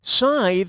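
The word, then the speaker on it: scythe: tithe or W keep sythe rhymes with tithe but I still like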